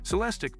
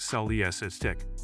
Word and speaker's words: Celestiq: to order by hand celestic pronounced sell the SS tick production will necessarily be